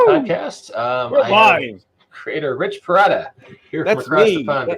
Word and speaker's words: Perotta: i'm doing great and thank you for pronouncing my name correctly because i cannot tell you how many times i've heard perrota all my life i thank you for